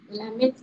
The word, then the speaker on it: climate: Climate. ATE này có nhận trọng âm không? Không ạ. À. Em không đọc đây, không rơi đây đâu mà climate ạ, à, mà trọng rơi một ạ.